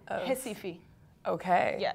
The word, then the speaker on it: Recife: Recife. Okay. Yeah, it's spelled with an R, like, even if it sounds like that.